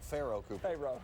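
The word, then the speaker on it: Pharoh Cooper: Say it right, please. Pharaoh Cooper. Pharaoh. Oh, like the coach.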